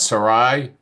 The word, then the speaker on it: Sarai: Desiree Govitz, Brittany Fernandez, and I'm going to mispronounce Sarai Martinez.